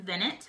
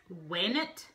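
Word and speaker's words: venit: And then we had what looks like Vinet, but is actually pronounced Wainet.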